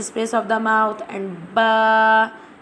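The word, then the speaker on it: باء: Alif pronounced from the empty space of the mouth, and ba pronounced from the wet part of both lips.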